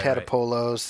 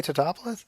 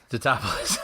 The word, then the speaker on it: Tatopoulos: the running gag of how no one can pronounce his name. Right. Right. Right. Tatapolos. And it's like it's Is it that hard to say Tatopoulos? Tatopoulos.